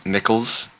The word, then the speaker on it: Nicholls: moments where uh kind of look like n Nicholls thank you for the correction I'm pronouncing that correctly now um was kind of